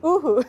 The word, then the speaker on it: uhu: But we decided to use pau, pau, pau? No, was the fish? Uhu, sorry. Uhu.